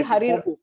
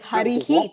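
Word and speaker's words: हरिः: So maybe Harir. Parakshara Om. Harir Ikarantah. I don't think it is pronounced that way. It is Harihi.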